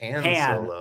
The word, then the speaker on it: Han Solo: Well, the way most people say it is Han Solo, and then Lando will say it Han Solo.